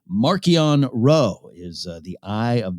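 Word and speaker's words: Marchion Ro: of the villains that actually got a correct pronunciation markian row is uh the eye of the nile already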